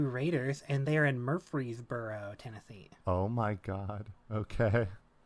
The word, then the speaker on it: Murfreesboro: The easy way to remember Middle Tennessee State is because I always want to say Murfreesboro, but I purposely make that R pronounced in my head.